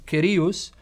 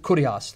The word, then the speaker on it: Kyrios: Now, the Greek word for Lord, because Mark is writing in Greek, it's Kyrios. Some will pronounce it Kurios, the Erasmian way.